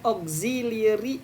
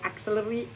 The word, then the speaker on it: auxiliary: Nah, di sini kita akan menggunakan reducing yang mana kita akan menghilangkan sebuah conjunction dan auxiliary yang ada di situ. Jadi, bacanya bukan auxiliary tapi oxy pakai Z auxiliary.